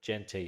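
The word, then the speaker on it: Ashton Jeanty: How do you pronounce his name? What, Ashton Genty? Genty, is it?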